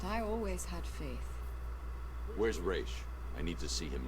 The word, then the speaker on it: Ra's: Is it Raz? Is it Raish? It is Raish.